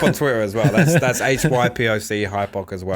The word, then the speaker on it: hypoc: That's HYPOC, because a lot of people actually spell it wrong.